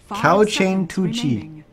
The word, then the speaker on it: KaoQian.Tuji: to pronounce it and it's cow chain 2 G now it's just cow chain 2 g is how they told me it I tried to make